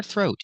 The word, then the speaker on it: throat: Pronunciation for throat, use the TH with no voice plus the R sound. Thur, thur. Practice this sound. It's very difficult. Thur, throat. It's a long O like no and go. Throw, throat. In normal conversation, you'll hear this T as a stop T.